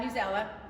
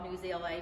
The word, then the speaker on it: Newsela: All right, it is pronounced uh Newella, just so you know. I researched it. I used to always call it NewsLA because that's just what but it actually is Newella and you can call it what you want.